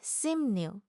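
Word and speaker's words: 십육: This word means 16 + 6, often pronounced simnyuk.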